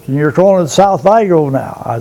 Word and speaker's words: Vigo: Someone called it Vigo, but I don't spell it with an E, it's spelled with an I, and I go by that. You'll hear me call it Vigo.